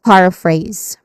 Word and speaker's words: paraphrase: And then it ends with phrase which has a dip thong um in the middle a and then a buzzing sound at the end or letter z sound.